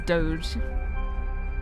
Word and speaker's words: doge: dictionary and the first word I saw was Doge Doge d o g e pronounced doge is in the dictionary as a